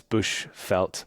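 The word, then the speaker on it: Bushveld: I will put some links down in the show notes, but yeah, it's Bushfelt. Vel is the way that felt is spelled.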